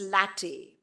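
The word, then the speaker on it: LaTeX: it's spelled as l e ex but it's pronounced as latte the entire template most journals have that option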